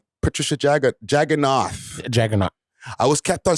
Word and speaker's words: Jaggernauth: Is it Jagganauth or Jagganauth? It's Jagganauth. It's TH at the end. Yeah, but H is silent. The H is silent on it.